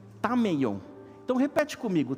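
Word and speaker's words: ταμεῖον: Essa palavra lugar, que as traduções, a maioria traduziu como quarto, é uma palavrinha grega que se pronuncia tameion. Então repete comigo, tameion.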